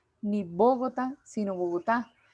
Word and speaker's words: Bogotá: sílaba tónica por ejemplo cuando yo digo bogotá chiquinquirá la sílaba tónica es la que lleva la fuerza de acentuación yo lo digo bogotá ni bogotá sino bogotá y es